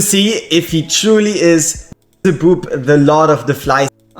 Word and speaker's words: Beelzebub: This might be an annoying message to some people, but it's about how to pronounce him. It's BEELZEBUB. The question is, how long are the spaces, right? Like, it's like BEELZEBUB.